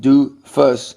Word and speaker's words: doofus: __ ] or a doofus pronounced do fuss is anybody who Whose